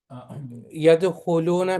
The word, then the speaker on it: يدخلون: So here, yadkhuluna, make sure this is short, one syllable. You don't make it two syllable.